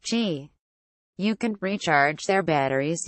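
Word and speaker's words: Qi: 8 support a wireless charging standard called she pronounced G you can recharge their batteries using any wireless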